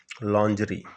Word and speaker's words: lingerie: लॉन्जरी, देखिए इसका spelling LINGERIE, लॉन्जरी। Women's underwear and night clothes pronounced as लॉन्जरी, ये महिलाओं का अंडरवेयर और नाइट क्लोथ है जिसको हम लॉन्जरी के रूप में पढ़ते हैं।